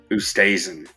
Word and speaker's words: Oosthuizen: I sprinkled Kuchar and Oosthuizen. I think I said that one right. Oosthuizen.